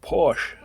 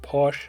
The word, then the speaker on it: Porsche: to say Murphy drove Porsche however you pronounce it the pronounce it Posh some people pronounce it differently so Murphy drove Porsche